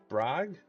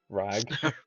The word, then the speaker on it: Brag: So Ariel Audri and Brag. Am I pronouncing that right? I can. Yeah, Brag. I need you all to make Constitution saving throws, please. The the B is actually silent. Rag rag rag one.